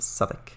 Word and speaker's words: Southwick: Pronounced Southwick.